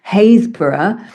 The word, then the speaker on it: Happisburgh: Names that are kind of pronounceable to people who don't know, like we have a place called Happisburgh, but it's spelled H A P P I S B U R G.